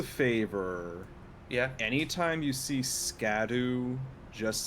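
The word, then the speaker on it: Scadu: It's really shadow. The real pronunciation. Oh my god. What? In what language does that make sense? Old English it would be pronounced shadow.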